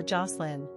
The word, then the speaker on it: Jocelyn: Pronunciation, J-A-H-S-L-I-N or Jocelyn.